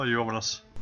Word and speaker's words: Euronymous: Paying tribute to former members Per, Dead, Olin, and I don't know how to pronounce that, Euronymous Arthur. Oh, Euronymous.